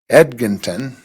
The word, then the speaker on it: Edginton: Okay, next up, Kelly, I never say it correctly, Edginton. I always want to put an R in there.